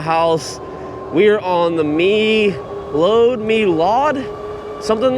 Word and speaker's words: Meelod: Lately, I just cannot pronounce the name of these bikes, but I think it's Melod because Mel load would have an A in it and this doesn't have an A in the name.